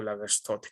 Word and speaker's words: Lagerstätte: decíamos hace un momento lager State o lager stote como me decían que se pronuncia Entonces qué es eso